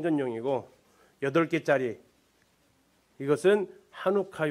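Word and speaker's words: Hanukkah: 한번 읽어 보실래요 에 찬 오카 이스라엘 사람은 하누카 라고 있습니다 예 참혹한 하누카 씨가 묵음 일인지는 모르겠는데 1호 카 라고 그들은 있습니다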